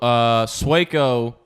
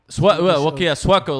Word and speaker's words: Sueco: So it's pronounced Sueco, not Sueco. Well, no, but then after a while, like if you didn't speak Spanish, you just said Sueco.